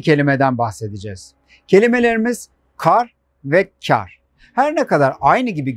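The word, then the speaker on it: kâr: su buharı anlamına gelir İkinci kelimemiz çağırsa ince a harfi ile telaffuz edilir ve A harfi yarım ses uzatılarak söylenir Farsça kökenli olan bu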